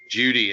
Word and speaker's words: Jeudy: It's a question of who they take, whether it's CeeDee Lamb or Justin Jefferson or Jerry Jeudy or Judy, I guess that's how you pronounce it, right?